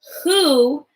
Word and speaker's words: who: heard the sound from who and you thought maybe that starts with H but if you look at the word it actually starts with letter W and the W is silent so that's why you